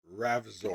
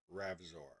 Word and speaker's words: Ravzor: Is Ravzor. Behind Chuck Norris' beard, It's Spell it, please. there's not a chin. R It's A another V fist. Z O R. Ravzor.